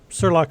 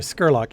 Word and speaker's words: Scurlock: the other Tower basically is it spelled like it sounds like surlock sorry Scurlock It's s c r l o c k do we what do